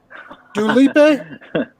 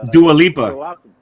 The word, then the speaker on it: Dua Lipa: Dulipe? No, no, it's Dua Lipa.